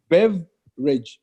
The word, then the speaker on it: beverage: cruel beverage beverage yeah so the B and the E and the V is they all together Bev and like the e that is apt IV is silent so it's beverage so you don't see babyrage not the village is the beverage beverage beverage good beverage